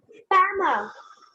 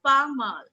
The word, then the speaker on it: pas mal: Next, Pama. pas mal. Now it is pronounced as pas mal.